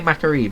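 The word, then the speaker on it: Mac'Aree: Antoran Wastes and Croccoon are kind of the same thing, but Macari? I always say Macari, but I hear it pronounced as Macari a lot.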